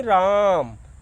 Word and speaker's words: राम: ओम, इसी ओम के पहले, इसी ओम के पहले आप र लगा दीजिए, यानी राम।